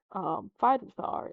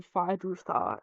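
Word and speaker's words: Feyd-Rautha: This is the introduction of one of my I hate to admit this, but besides Aaliyah, Fidruthar is Rutha, Fidrutha. Either way, I can't help but pronounce the R.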